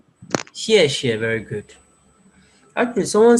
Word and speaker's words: 谢: Xie, very good.